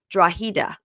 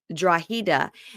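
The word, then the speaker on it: Drogheda: of the place where Shawn is from it's draa oh okay it's spelled draga but it's draa and that led me I I got led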